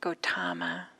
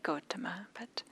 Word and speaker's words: Gautama: Some people pronounce it Gautama. In Pali we would say Gautama, there's this passage that